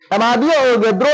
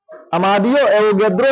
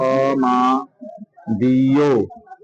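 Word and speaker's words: Amedeo: हो गया भैया चलो लिखा जाए देखो अमादियोद्रो ने अमादियोद्रो ने अरे गधा नाम है अमादियो अमादी नहीं अमादियो एवोगद्रो ने इनके नाम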